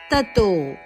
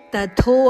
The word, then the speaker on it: ತತೋ: ಆಘಾತ ಇದೆ ಅಭ್ಯಾಸ ಯೋಗೇನ ತತೋ ಇಲ್ಲಿ ತಥೋ ಅಲ್ಲ ತತೋ ಮಹಾಪ್ರಾಣ ಇಲ್ಲ ತತೋ ಮಾಮಿಚ್ಛಾಪ್ತುನ್ ಧನೈಂಜಯ ಮಾಮಿಚ್ಛ ಮೀ